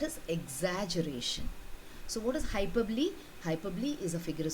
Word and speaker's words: hyperbole: do you read this word how do you pronounce this word you say hyperbole hyperbole okay so let us look at some examples